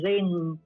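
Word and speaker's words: Zayn: It's Zain, like Zain Malik from One Direction.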